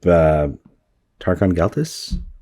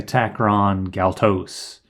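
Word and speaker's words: Takron-Galtos: So we find out that he was able to escape Tarkon Galtus? How do you pronounce it? I say Takron Galtos. Takron, that's right. I put the R in the wrong place.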